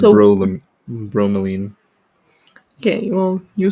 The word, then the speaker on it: bromelain: Brolomelin. Brolomelin. Usually, brolomelin actually digests protein. It's bromelain.